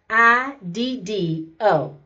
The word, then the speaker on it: Megiddo: I'm hoping I'm pronouncing this right. It's Megiddo.